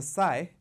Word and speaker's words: sigh: this with a s with the G is almost silent G silent clear I shall be telling this with a sigh somewhere ages and ages